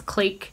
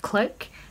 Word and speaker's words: clique: There's some debate as to whether to pronounce clique like that or like click. Personally, I always read it as click when I was a kid, but I hear a lot more people saying clique.